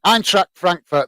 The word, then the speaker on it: Eintracht Frankfurt: And how do I pronounce it now? Eintracht Frankfurt, that's it. Yeah, Eintracht Frankfurt fan.